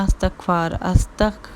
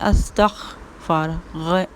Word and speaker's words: استغفار: نہیں ہے، ٹھیک ہے، تو استغفار اس طریقے سے پڑھتے ہیں، استغفار نہیں، استغفار، غین کی آواز آنی چاہیے، ٹھیک ہے، غین ہے اور کاف نہیں ہے، تو تلفظ اپنا ٹھیک